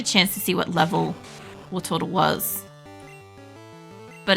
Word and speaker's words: Wartortle: I always say it like Wartortle, because that's how my family used to say it. But it's Wartortle.